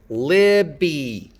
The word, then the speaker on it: Libby: Libby. Libby. The vowels in Libby are not the same. Libby. Not the same vowel. The stress is on the first syllable.